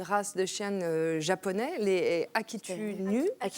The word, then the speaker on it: Akita Inu: tout cas, Akan, elle est issue d'une race de chiens japonais, les Akita-Inu. Akitori.